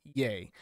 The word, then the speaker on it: Ye: new name is yay y e pronounced yay which is like fish